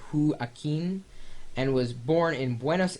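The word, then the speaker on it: Joaquín: It looks like Joaquin, but he says Joaquin, and was born in Buenos Aires 15 years ago.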